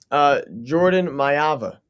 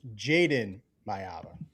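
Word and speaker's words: Jayden Maiava: Real quick, Peyton, how do you pronounce the quarterback for USC's name? Jordan Mayava. And Soupy, how do you say it? It's Jaden Mayava.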